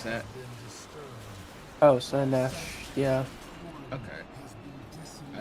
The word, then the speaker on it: Slaanesh: I don't know how to pronounce that. Oh, Slanesh.